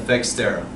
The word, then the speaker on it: Fexteraj: So with that, I'd like to announce the beginning of Fexteraj. Fexteraj. What? Fexteraj. Oh. The J is silent.